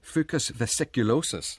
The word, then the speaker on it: Fucus vesiculosus: There was a fan for Fucus vesiculosus. I'm glad I pronounced that correctly.